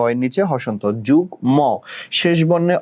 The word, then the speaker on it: যুগ্ম: বাট এই একটা ব্যতিক্রম রুলস যে মাঝে মধ্যে মফলার উচ্চারণ হয়ে যায়, কখন? যুগ্ম, আমরা কিন্তু যুগ্ম বলি না, যুগ্ম, যুগ্ম সাধারণ সম্পাদক, ঠিক আছে, তো যুগ্ম বলি, ঠিক আছে।